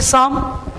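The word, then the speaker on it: psalm: अब देखो पी सलाम नहीं, ये पी हो गया, जिसको बोलेंगे साम।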